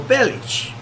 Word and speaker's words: Bellic: cuz I knew that I never never understood why in this game he was Niko Bellic and not Niko bellich uh maybe because in English it's kind of harder to pronounce bellich there's no chair no